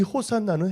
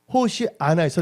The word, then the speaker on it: 호산나: 이 호산나는 헬라어로 발음할 때 호산나라고 합니다. 원래 이 호산나는 히브리어에서 왔습니다. 히브리어 호시아나에서 나온 것입니다. 호시아나에서 나와서 헬라어에서는 호산나라고 부르는 것이에요.